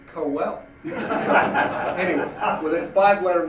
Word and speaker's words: Quehl: I've been mispronouncing your name, Steve Quail." So he went on to pronounce it phonetically as Steve Cowell.